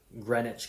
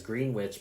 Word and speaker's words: Greenwich: Same thing with Greenwich, Connecticut. Americans would normally see that as Greenwich, but we pronounce it the way that the British do.